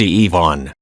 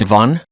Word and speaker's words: Ivan: But, being Slavic, it's pronounced Ivan.